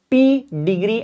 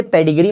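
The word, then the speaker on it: pedigree: तो उसे ही हम कहते हैं क्या, पी डिग्री एनालिसिस। इसे पेडिग्री मत कहना, ये पी डिग्री प्रोनाउंस होता है।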